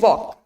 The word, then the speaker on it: walk: Next, could and walk. In these two words, we are not speaking out the sound of L, right? So L is silent there.